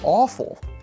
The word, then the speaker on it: AFOL: Lego well it's and it's pronounced awful which I think is